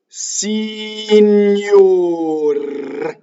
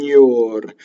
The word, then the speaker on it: signor: GN is like the GN in lasagna, right? Signor. So you say N and then YO.